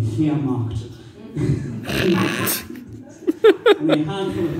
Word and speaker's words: Wehrmacht: I'm not a Nazi, of course, you know, which is hard to explain when you're telling someone that the W is pronounced with a V in Wehrmacht.